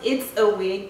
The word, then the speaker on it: It's a Wig: It's actually pronounced It's a Wig, but I feel like